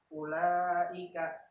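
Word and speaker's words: أولئك: Cara membacanya ialah wajib dipanjangkan 5 harokat atau 2,5 alif. Contoh, ulaika, Nah, dibaca dengan 5 harokat atau 5 ketukan.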